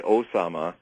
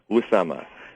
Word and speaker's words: Usama: it's very important to get the the correct pronunciation for instance when we say Osama that's like saying American yeah it's us Usama yeah yeah Usama and so his name uh is one of